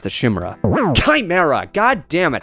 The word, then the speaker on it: Chimera: I hope I'm saying that correctly given I got brawled with comments on how I mispronounced the Chimera.